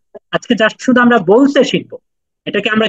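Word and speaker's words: ب: আজকে জাস্ট শুধু আমরা বলছে শিখবো এটাকে আমরা কি বলবো বা বলুন বা এটা এক আলিফ টান হবে এক সেকেন্ড টান হবে বা বাড়ুন বা জি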